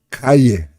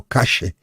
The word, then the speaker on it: Calle: Uma rua lá dentro da colônia de Sacramento, chamando lá Calle, ou Calle, ou Cache, dependendo da onde se fale a pronúncia.